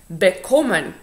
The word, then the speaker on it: bekommen: W czasownikach nierozdzielnie złożonych odwrotnie. Ten akcent taki pada na czasownik główny. Bekommen, entscheiden, erziehen, gefallen, missachten, verbringen, zerbeißen, empfehlen. Tak? Akcentujemy po prostu ten drugi czasownik.